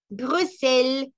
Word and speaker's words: Bruxelles: Eso, cuando entonamos de una manera o de otra, la pronunciación siempre se va a afectar. La siguiente. Bruxelles, Bruxelles. Brusel, Brusel, Brusel, Brusel.